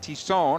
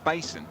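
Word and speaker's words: Thiesson: Tisson, at least according to the pronunciation guide. We'll try to keep it correct, at least on my side, if I can. first thing it looks like is Thyssen, right? When you see it.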